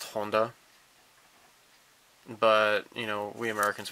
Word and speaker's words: Honda: Fit and see I'm okay it's it's correctly pronounced Honda but you know we Americans we say Honda okay just let me talk I know there